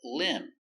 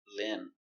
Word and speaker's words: limb: Example limb. Remember no be limb.